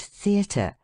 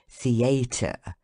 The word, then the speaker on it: theatre: audible than the rest thus in the word theatre the stress of the voice should be on the letter e and first syllable si and in contrary on the first syllable con how shocking it is to hear people say contrary theatre the Friends of Education